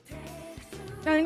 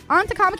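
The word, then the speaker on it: Ann: know maybe maybe I was putting that wrong and go oh okay cool like uh I'll tell you a real example uh on that's what I meant to type too onto is pronounced onto if you ask me to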